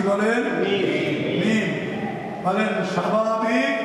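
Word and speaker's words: ميم: মনে রাখবেন আরবিতে মিম, বাংলায় ম একই জিনিস। আরবিতে মিম, বাংলায় কি ম, একই জিনিস। বলেন মিম, বলেন মিম জবর মা, মিম জবর মা, মা, মিম জের মি, মিম জের মি, মিম পেশ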